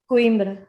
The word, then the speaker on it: Coimbra: How do you pronounce it? Coimbra? Coimbra, yeah.